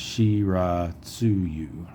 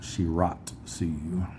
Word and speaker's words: Shiratsuyu: Remember, one of my viewers told me that the Japanese pronunciations, the syllables never end in a consonant. So that TSU is actually a syllable. So it's Shiratsuyu, not Shiratsuyu.